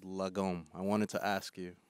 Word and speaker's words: lagom: But I came across a Swedish philosophy called lagom. I wanted to ask you if am I pronouncing it right.